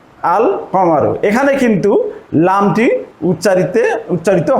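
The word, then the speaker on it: القمر: যুক্ত করি তাহলে হচ্ছে আল কামারু আল কামারু এখানে কিন্তু লামটি উচ্চারিতে উচ্চারিত হচ্ছে অর্থাৎ লামটা উচ্চারণে আসছে এবং এই হরফের পূর্বে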